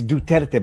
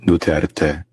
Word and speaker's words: Duterte: Duterte. Duterte. Sara Duterte. I presume that's how you pronounce it. Duterte. Oh, okay. I'll Duterte. You have to say it with a very deep accent.